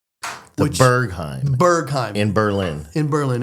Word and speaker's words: Berghain: The Berghain. The Berghain. Berghain. In Berlin. In Berlin. It's spelled b e r g h a i n.